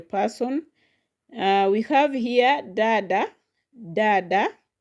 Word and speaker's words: dada: Uh we have here dada. Dada. Dada also has two syllables. So from the end it will land on the first one which is da. So it is dada dada dada.